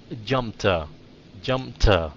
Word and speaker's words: jumped: Okay, phát âm cái chữ đó là, Johan, cái chữ đó là jumped, so nó âm t, huh?